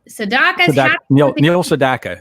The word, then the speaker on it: Neil Sedaka: Neil Sedaka is how you say it.